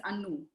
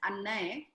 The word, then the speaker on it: Anu: Because my name is Anu, right? If somebody found it difficult somebody in some other country with some other dialect found it difficult to pronounce and addressed me as Annay, but she calls out